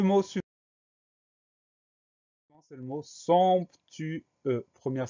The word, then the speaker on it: somptueux: On fait attention à ce son ON qui s'écrit OM, et au son E de la fin du mot qui s'écrit EU, et à la lettre muette X, somptueux, SOMPTUEUX.